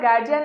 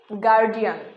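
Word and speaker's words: guardian: আমার গার্জিয়ান এখনো আমাকে নিতে আসেনি। গার্জিয়ান, এই উচ্চারণটি ভুল। এই সঠিক উচ্চারণ হচ্ছে গার্ডিয়ান।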